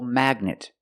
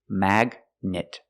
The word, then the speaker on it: magnet: Example, magnet. You see gn in the middle, you pronounce the g. G. Magnet.